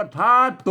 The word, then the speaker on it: ธาตุ: อ่า ไม่ กะ วง อ่าน ว่า ทาตุ นั่น แ่ะ ใช มั้ย มัน ก็ คือ ธาตุ นั่น แหละ ธาตุ ไฟ ธาตุ อะหยัง